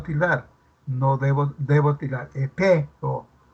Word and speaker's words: Epeo: ¿Cuántas sílabas tendrá este nombre propio Epeo? ¿Dos o tres? Tres.